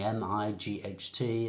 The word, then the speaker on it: might: I guess it's because of the spelling, this strange spelling, M-I-G-H-T, and we pronounce it might.